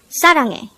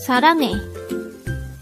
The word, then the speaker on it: 사랑해: Saranghae. Saranghae. This is pronounced as a 3-syllable word. The first syllable is sa, second syllable is rang, third syllable is he.